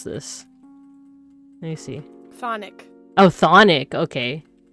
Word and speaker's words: chthonic: Thonic. Oh, Thonic. Okay. It's like saying Sonic the Hedgehog, but with a slight lisp.